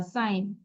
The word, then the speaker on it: sign: SIGN, জিটা উচ্চারণ করবো না, সাইন।